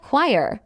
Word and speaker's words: choir: The word choir is highly irregular in its spelling relative to its sound. It is pronounced exactly like choir, meaning it rhymes perfectly with the word fire.